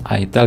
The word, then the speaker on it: itel: Di sini ada angka gede 3, Vision plus itel, bacanya itel ya, bukan apa tuh.